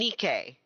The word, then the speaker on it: Nikkei: dk thank god okay it's dk and nikkei okay like nike long e the i is a long e dk that sounds cooler